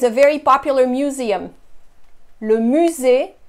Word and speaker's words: musée: Le musée, musée. Notice I don't pronounce the second E.